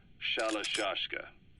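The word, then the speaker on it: Shalashaska: The guerrillas were using the name amongst themselves, and by the time I got to hearing about it, the pronunciation had wound up as Shalashashka.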